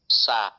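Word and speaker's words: ث: সা, ওই সা এরকম শক্ত করে উচ্চারণ করলে তো হবে না, এই হরফটা নরম করে উচ্চারণ করতে হবে, পাতলা করে।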